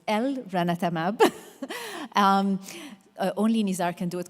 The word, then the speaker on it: elranatamab: And then if we look at elranatamab, I have to say it correctly like you, so it's elranatamab.